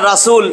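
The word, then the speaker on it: رسول: জ এইটা কিন্তু র এখন র জবর রা হবে হবে না র জবর র বলি না রাসুল রাসুল না রসূল রসূল রসূল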